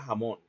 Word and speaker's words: jamón: como la J española ¿Cómo pronunciaría un español del centro norte la palabra jamón? De forma velar o incluso? ¿Cómo sería esa pronunciación entonces? Jamón. Jamón. Velar. O inclusive de forma ovular jamón.